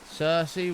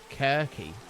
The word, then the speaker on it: Cersei: TV show yet so my head I was pronouncing all the names wrong uh Cersei was Kirky yeah I mean it it is quite is